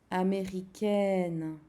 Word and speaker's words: américaine: And je suis américaine, you say the A-I as in A, you pronounce the N, but not the E.